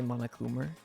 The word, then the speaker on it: Monokuma: our memories isn't it the british people say it like the way they say diva like fever they say mama coomer okay where did everyone